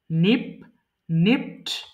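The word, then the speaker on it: nipped: lost নিপ চিমটি কাটা নিপ্ট নিপ এটা কিন্তু নিপেড হবে না এটা ভুল করবো দেখেন প্রত্যেকটা জিনিস এখানে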